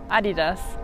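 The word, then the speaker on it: Adidas: सो how would you से BMW BMW ऑडी ऑडी Nivea Nivea DHL DHL एडिडास एडिडास Puma Puma so different said to me it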